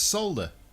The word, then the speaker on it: solder: Solder. The L is silent. No, it's not. It's solder. It's not solder.